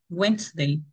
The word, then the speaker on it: Wednesday: acá esta d y esta e no suena la segunda e y la primera d no suenan cómo sería wednesday muy bien wednesday wednesday